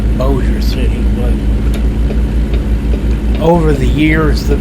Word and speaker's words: Bossier City: and when it was it was probably pronounced bossier city and not bowser city but over the years